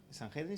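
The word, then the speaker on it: Sanedrín: Y este hombre era un fariseo muy bien conocido, era un enseñador, era parte del en español no se dice así, San Jedin se dice, era parte del San Jedin.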